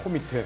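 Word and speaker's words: کمیته: 코미테라고 그럽니다. 영어의 커미티에 이제 이란 페르시아어 발음인데 코미테인데. 코미테.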